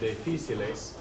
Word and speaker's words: difíciles: It still has that accent, so difíciles.